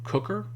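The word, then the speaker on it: Q'qr: But basically there was this ancient kicker group I think he pronounces it more cooker, but Q apostrophe QR, that the cooker people or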